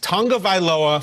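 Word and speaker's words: Tagovailoa: never doubt the NFL research team and their pronunciation is tongue of ioa great Tong of ioa for the record the Tellis what can we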